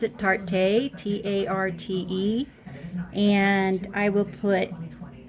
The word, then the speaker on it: Tarte: So this one is from, I guess you pronounce it Tarte, T-A-R-T-E, and I will put a couple links below on where you can get this concealer.